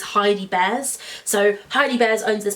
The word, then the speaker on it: Heidi Bears: It's not Jamie Crow, that's someone else. It's Heidi Bears.